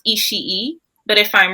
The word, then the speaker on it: Ishii: I have always pronounced his name with like Ishii, like with I put a little extra, because there's so many I's in there that I put a little extra I in the sound.